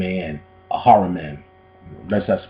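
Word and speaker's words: Ahriman: man a h r i m a an a haran that's that's pronunciation human responsibility for Earth by Rudolph Steiner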